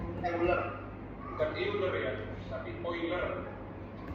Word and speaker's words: Euler: bukan euler ya Tapi oilerik harusnya membacanya itu oiler bukan euler ya oiler Oi oiler kenapa di situ muncul